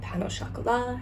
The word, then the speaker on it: pain au chocolat: That's how you say it here. Pain au chocolat is how you would ask for it.